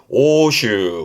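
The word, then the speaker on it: 欧州: 그래서 뒤에 주자 쓰면 구주 구주라함은 일단 발음은 오슈입니다. 요때 바로 명심할게 오로 가요. 오슈.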